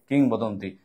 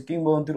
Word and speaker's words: কিংবদন্তি: দিকে আসছে সেটা হচ্ছে কিংবদন্তির উচ্চারণ তো এটার উচ্চারণটা হচ্ছে কিং বদন্তি কিং বদন্তি রসিকার আছে